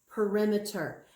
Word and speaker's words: perimeter: It looks like parameter, but it's pronounced perimeter.